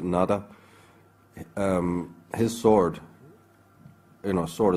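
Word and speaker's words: Nuada: In the earliest settlers of Ireland, in the very primordial times, the High King, whose name can be pronounced in a variety of ways, we pronounce it Nada, his sword, you know,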